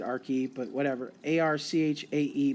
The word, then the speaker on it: Archaea: RK a our ki i pronounce it our key but whatever AR CH